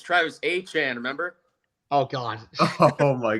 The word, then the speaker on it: Etienne: First off, I got to say Travis Etienne to the Saints. That was a really good deal. It's not Etienne. It's not Etienne. According to him, it's Travis Etienne, remember?